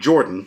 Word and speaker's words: Jorphdan: Then, last night, Jordan, the PH is silent, reported on social media that Wizards of the Coast had issued a copyright strike on his PHB video.